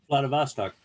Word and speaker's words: Vladivostok: How do you pronounce that town? Vladivostok.